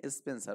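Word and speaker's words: Spenser: তো কাব্যে ছিল কি এখানে স্পেন্সার ছিল, এখানে কি ছিল এখানে স্পেন্সার, ওকে, SPEN, স্পেন্সার, SER এখানে বাংলায় উচ্চারণটা এরকম হবে এখানে দন্ত শয় প স্পেন,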